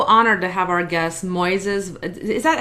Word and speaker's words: Moises: Hey, so today I am so honored to have our guest, Moises. Is that how you guys pronounce her name, Moises? Yeah, Moises, the accents on the final syllable.